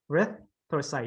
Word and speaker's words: erythrocyte: Okay, so rith. Like good. So rith. Yeah. When you end, yeah. So erythrocyte. Okay, and then you add to it.